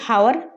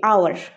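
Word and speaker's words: hour: হাওয়ার, হাওয়ার বলি না, হাওয়ার, হনেস্ট, হনার্স এরকম বলি, এরকম অবভিয়াসলি বলি না। তো সেই ক্ষেত্রে আমরা একটা কী বলি? আওয়ার, আওয়ার। তো এখানে এইচটা কী হয়ে যায়? এইচটা সাইলেন্ট হয়ে যায়, এইচটা সাইলেন্ট হয়।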